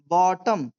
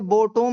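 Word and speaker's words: bottom: है settled at द बॉटम इसे बोटम नहीं पढ़ेंगे बॉटम जैसे मैं बोल रहा हूं ऐसे बोलना है।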